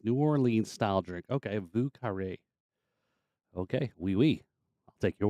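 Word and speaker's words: Vieux Carré: Vu Carre is how it's pronounced. New Orleans style drink. Okay, Vu Carre.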